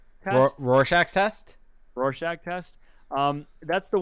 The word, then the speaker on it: Rorschach: The Rorschach test. Rorschach test.